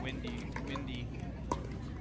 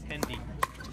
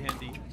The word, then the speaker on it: Hendy: And Wendy, gosh, I keep saying this guy's name wrong. Hendy, not Wendy, sorry Hendy.